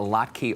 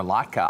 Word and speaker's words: latke: Because I was asking Seth, is it a latke or latka? I've always said latka, and it happens to be one of my favorite dishes. He is a potato guy, but I have spent some time with a couple of Jewish families, and they taught me it's latkes.